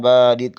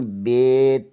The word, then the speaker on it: ب: لہجے میں ادا کریں، اردو تلفظ سے پرہیز کریں، یعنی بے، تے، سے، جیم، اے، خے، توئیں، زوئیں وغیرہ ہرگز نہ پڑھیں، بلکہ با، تا، سا، حا، خا، تو، زو پڑھیں۔ ان 29 حروف میں